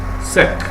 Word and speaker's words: sec: it's pronounced as full one exception are words that ends with the letter c such as SEC yes that's an exception that's SEC okay exactly which means